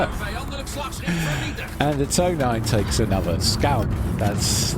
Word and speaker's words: Tonijn: The Tonijn, no, it's a Tonijn.